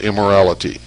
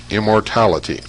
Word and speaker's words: immortality: name of the child it's immortality not immorality immortality psyche replied that with